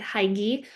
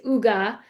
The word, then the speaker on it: hygge: I was pronouncing it hygi. But it is Ugga.